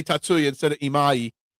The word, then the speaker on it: Imai: It's pronounced Imai. Imai. Imai. Imai.